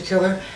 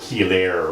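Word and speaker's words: chelation: trials and uh doctor killer I just wanted to say that I just want horrible okay I'm falling apart it's uh pronounced key later a kind of a misconception key later oh my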